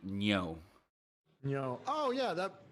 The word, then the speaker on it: Ngo: listened to enough but i feel like the proper pronunciation is actually andy neo you know oh yeah